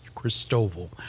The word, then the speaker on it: Christoval: the city of Chris Christoval as the locals pronounce it um and I just